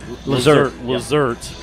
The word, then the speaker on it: Lazert: Uh Paige uh Lazert uh rhymes with dessert.